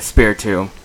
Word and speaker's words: Spiritomb: All right, so now we got Flush, the Spiritomb. That's right, I pronounced the T like a tomb.